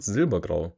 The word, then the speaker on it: Silbergrau: On place number 3, with currently 19 votes, we have the submission from Silbergrau. Why do I pronounce this like I'm not German? It's called Silbergrau.